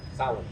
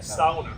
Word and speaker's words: sauna: How do you pronounce it? Sauna. Sauna. Yeah. sounder.